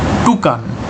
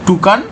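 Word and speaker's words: toucan: লাস্টে আছে কি টি ও ইউ সি এন টুকান ঠিক আছে উচ্চারণ কিন্তু টুকান এটা হচ্ছে এদের নাম হচ্ছে দেখো এদের ঠোঁটটা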